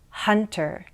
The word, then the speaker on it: Hunter: So we say Justin, Tristan, Hunter, Octavia.